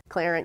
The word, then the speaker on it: Clarent: Clarent, I think pretty much everybody by now knows Clarent used to be Delmarva. It's capitalized and pronounced Clarent.